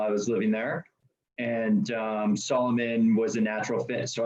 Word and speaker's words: Salomon: If we were in France, it might be like Salomon, but Okay. it's Salomon for sure.